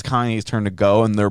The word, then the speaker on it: Kanye: still filming your documentary kanye yeah like you still working on that he's like yeah yeah yeah yeah yeah yeah at some point they didn't even say his name right they call him cayenne yeah cayenne and then